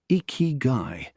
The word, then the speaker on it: Ikigai: Ikigai, pronounced Ikigai, is a Japanese concept that roughly translates to reason for being.